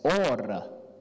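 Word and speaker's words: אוֹרָה: So the word for teach actually was yara. So you pronounce it as yara, and you pronounce the law as Torah, and you pronounce light as ora.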